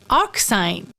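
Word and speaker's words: arcsine: be denoted like this it is pronounced as arc sine suppose we have a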